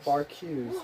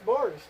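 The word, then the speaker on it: Barq's: to pronounce I swear I've always thought it was bar Q's it's bars I thought it was bar Q's cuz it's like b a r q like e or something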